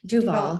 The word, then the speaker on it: Duval: How do you pronounce Duval? Duval.